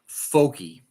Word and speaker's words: Focke: These are the four keys for Frankly researching Frank and pronounced fo cke. Folky folky.